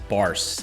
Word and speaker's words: Barse: with me today i have special guest barce does that get that the last name pronunciation right there nailed it nailed it all